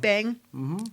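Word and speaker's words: bhang: in the form of I'm going to pronounce this wrong hang b h n g Bang Yeah Bang despite the high prevalent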